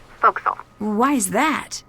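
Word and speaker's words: forecastle: ship but it's pronounced fil why is that try pronouncing it like an English sailor with no formal education F Castle fil over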